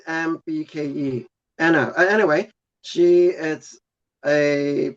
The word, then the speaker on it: Lembke: Anna Lambik, Lambik. So Lembke.